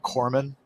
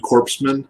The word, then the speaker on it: corpsman: as corman um but they kept mispronouncing that because core is obviously not spelled k uh excuse me c-o-r they kept calling him corpsman you know but i